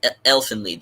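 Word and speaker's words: Elfen Lied: Elfin lead that that that's Elfin lead that's how you pronounce it Elan oh Elfin lead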